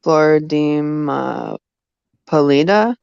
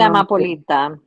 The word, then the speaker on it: Amapolita: I don't know how to say this name, but Floridime Polita. Does anyone on Flor de panel? Amapolita.